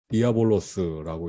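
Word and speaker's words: διάβολος: 그래서 헬라어로는 디아볼로스라고 읽습니다.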